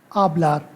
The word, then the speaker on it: hablar: So, the speak verb in Spanish is hablar. Hablar, hablar, to speak. And H is always silent in Spanish. So it is pronounced as hablar and not hablar. Okay, it is hablar.